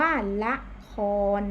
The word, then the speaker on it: ละคร: ก็ คือ รอ เรือ ละ อะไร คะ ละคร นั่น เอง ก็ คือ คือ เหลือ แค่ คำ ว่า คอน ก็ จะ เหลือ แค่ พยัญชนะ ต้น คือ ข้อ ควาย ตัว สะกด ก็ คือ รอ เรือ เห็น ไหม คะ สละ ออก ก็ จะ หาย ไป อ่าน ว่า ละคร นะ คะ อ้า นัก เรียน